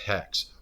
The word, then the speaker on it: HEX: I mean, the very product HEX rhymes with sex.